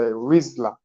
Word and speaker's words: Rizla: Come here and say, Rizla. That's how it's pronounced, That's how it's supposed to be pronounced.